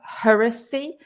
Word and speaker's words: heresy: first word is heresy so there's a difference in pronunciation as well heresy and hearsay and what's heresy craig